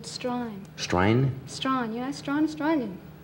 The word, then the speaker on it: Strine: Strine?